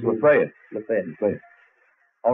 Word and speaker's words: Lafayette: It's Lafayette.